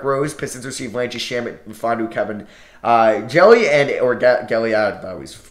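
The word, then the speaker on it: Mfiondu: It's, it's actually pronounced Fondu. The M's silent. Oh, well, glad I looked this up. So it's Fondu, Cabangeli.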